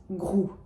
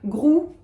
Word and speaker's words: Groult: Benoîte Groult. So we talked about Proust and the fact that we're pronouncing the T at the end of that name. However, Groult, we're not. It's just Groult.